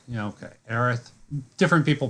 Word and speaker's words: Aerith: him and, I always fuck up her name, Aerith. Is that how it's pronounced? Yeah, okay, Aerith. Different people pronounce it different ways.